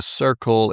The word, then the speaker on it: Cirkul: It's the Circle. I don't know how you say that. Circle? CIRKUL. Is that how that's spelled?